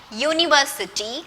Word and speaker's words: university: You have learned U is a vowel, but when we talk about university and unicorn, the first sound you are hearing is not the vowel sound for you. Vowel sound for you, short vowel sound is a. It's not U. U is the consonant sound for year.